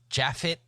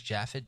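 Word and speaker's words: Japheth: leads his husband uh jaffet Leeds I guess you would pronounce that as jaffet j a p h t that's jaffet wouldn't it uh I think so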